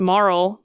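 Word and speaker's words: Marle: this girl that's missing Marl which that's how I pronounce her name I think people pronounce it a little differently but that's what it seems like to me that's how we're going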